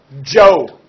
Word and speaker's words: Zhou: the son all right you say with me Joe notice this is like a soft a this is the CH kind of like a J Shawn Joe Shawn chin chin the Q ends up like